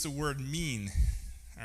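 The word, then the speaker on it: מִין: It's the word mean. All right? It's not spelled me, but it's pronounced like the English word me-an.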